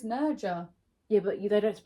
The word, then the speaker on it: Nerja: Sounds like Nerha when we went there. Even though I still don't think that's how you say Where it. did we go now? No, it's Nerja.